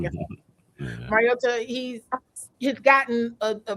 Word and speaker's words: Mariota: Mariota, he's he's gotten a a bad rap maybe